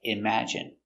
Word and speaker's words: imagine: e like nicotine and sometimes times it's in like imagine we're focusing on these